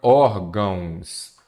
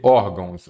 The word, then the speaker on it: órgãos: cobrados pela Fundatec então primeiro órgãos Vamos separar em sílaba não é isso órgãos aqui eu tenho o quê uma palavra paroxítona a sílaba tônica a penúltima lembre-se de que você começa sempre da direita paraa esquerda última sílaba tônica oxítona penúltima para oxítona antepenúltima proparoxítona órgãos ela é acentuada porque ela é uma paroxítona terminada em ans ah órgãos tem dois